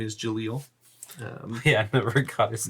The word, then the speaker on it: Jaleel: So you do know, by the way, that his name is Jaleel. Yeah, I never got his name. What? How do you spell it?